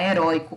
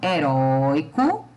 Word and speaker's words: herói: E eu tenho a palavra herói, é da mesma família, porém o herói, eu tenho o ROI, que é a sílaba tônica, e que agora está em uma palavra oxítona. Heróico, paroxítona, herói, oxítona.